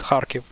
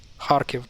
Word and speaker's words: Kharkiv: So it's not Kharkiv, it's not even Kharkiv, it's Kharkiv. Kharkiv, that's the right way to pronounce this name.